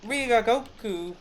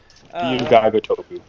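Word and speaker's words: Ryu Ga Gotoku: But like Ryugagoku Studio, RGG. I always get their name wrong. Oops. Ryugagotoku. Close. You got close.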